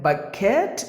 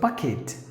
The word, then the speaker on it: bucket: The next word is bucket. Like here, there are one letter is silent. The letter C is silent. And the letter E, usually we pronounce it like bucket.